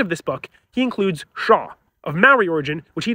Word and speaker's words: Zzxjoanw: this real word looks like it should be pronounced as zizikshonwa but it's actually pronounced as Shaw it's of Maori origin where it can mean